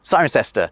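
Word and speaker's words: Cirencester: cestors not a single one of which is pronounced like it's spell we do it to confuse tourists siren sester stays true to its roots but it is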